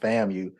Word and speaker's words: FAMU: Okay, it wasn't FAMU, it was acronym for Florida A&M University, and actually it's pronounced FAMU.